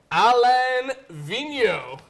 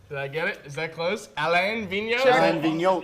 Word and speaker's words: Alain Vigneault: orange banner I have been working on this pronunciation all day and I'm still gonna screw it up Alain Vigneault Alain Vigneault yeah should my man av be the NHL